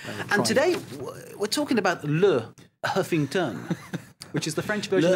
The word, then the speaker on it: Le Huffington: It's not Leffington. No. We could talk about the pronunciation for a long time, but the Le, I suppose, is what distinguishes it now as a French website.